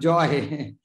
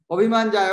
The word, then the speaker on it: jaya: Jai and joy is maybe English pronounced. Joy, not a joy. Abhimāne jaya. Oh, haribol, haribol, Abhimāne jaya. Not a joy. Jaya, jaya, gura chade. Not see Abhimāne joy. Their joy and jaya is different.